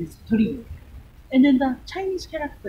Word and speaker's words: torii: This frame is Torii, the pronunciation is Torii.